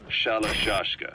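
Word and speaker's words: Shalashaska: Someone must have known about that, because somewhere along the line, Shashka got stuck on the end of Sharashka. The guerrillas were using the name amongst themselves, and by the time I got to hearing it... pronunciation had wound up as Shalashashka.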